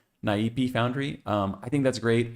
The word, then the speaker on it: Naipe: I'm going to pronounce it like it's Portuguese. Naipe Foundry.